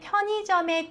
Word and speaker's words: 편의점: 、중간에、途中で、편의점 の真ん中の 의 はいと発音します。